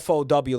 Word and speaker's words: forward: We tend not to pronounce the R in that word and just go like fo w like forward. Yeah. Forward I guess is the yeah the correct way to pronounce that. There is an R in there that we're just ignoring.